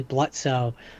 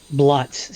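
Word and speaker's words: Blitzø: of get past early blutzo bluts sorry that the O is silent um that's that's uh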